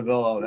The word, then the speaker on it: Avillo: there's only one Avillo, and you're pronouncing it properly, which is after 25 years.